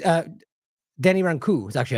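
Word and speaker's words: Rancourt: my interview with Denny in 2022 it's uh Denny ranu is actually how you say it it's Denny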